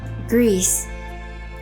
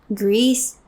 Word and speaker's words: GRIS: My first instinct, as probably a lot of you guys, is to say GRIS, but since it's a Spanish studio, I think it's pronounced GRIS. Correct me if I'm wrong, but I think it's GRIS. And GRIS means gray in both Spanish and French, but pronounced differently. In French, I'm gonna try it, but I'm gonna butcher it. It's more like gris.